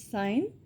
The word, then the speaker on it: sign: Something that indicates the probable presence or occurring of some else, that is sign, and silent letter in this word is G.